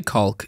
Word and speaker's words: caulk: But when you say caulk, you rarely say caulk. The L. Yeah. That's how it's pronounced.